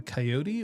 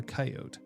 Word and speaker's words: coyote: So the pronunciation of that particular Yeah. animal is either coyote or coyote. Coyote. Mhm. Yeah. They are both. So they're both correct? That's interesting. They are both valid.